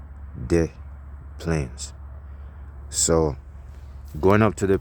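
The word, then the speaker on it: Des Plaines: to the Plaines the ples they call it death Plaines it ain't really I don't think that's how you pronounce it it's d s space bar Dash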